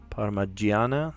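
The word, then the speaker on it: parmigiana: Paragana. Sorry, that has a G, like a hard G sound.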